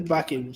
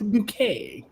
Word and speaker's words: Bucket: her her her her her name is bucket she goes no it's bouquet yeah bouquet residents Lady